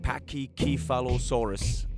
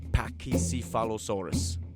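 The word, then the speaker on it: Pachycephalosaurus: But I think Pakisphalosaurus was wrongly pronounced in the series. They called them something like Pakyalosaurus and not Pakisalosaurus.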